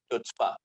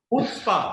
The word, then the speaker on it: Chutzpah: तो इस तरह का प्रोजेक्ट है चुचपा, नाम भी बहुत कैची है। क्या कहना चाहेंगे सर? हुत्स्पा, हुत्स्पा, चुचपा। हुत्स्पा इसका नाम है। जो इसका सी है वो साइलेंट है।